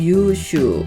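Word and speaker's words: 優秀: 우편을 유빙 유빙이라고 하고요 넉넉한 우를 써서 우수는 유슈 유슈 이렇게 길게 읽었습니다 다음 시간은 314강입니다 314강에서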